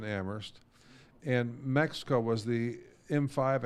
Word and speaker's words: Amherst: The 5 is silent, like the H in Amherst.